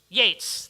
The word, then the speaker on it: Yeats: Yeats, thank you.